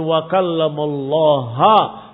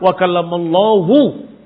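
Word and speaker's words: وَكَلَّمَ اللَّهُ: Ternyata mereka membacanya selama ini dengan wa kallamallaha Musa taklima. Padahal di Quran wa kallamallahu.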